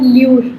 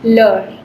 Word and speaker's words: leur: Remember that this is not lure, this is leur. Okay? leur बोलते हैं.